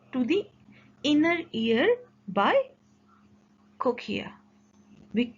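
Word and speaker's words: cochlea: outer side and to the inner ear by cochia we pronounce it as cochia the spelling is written on the screen c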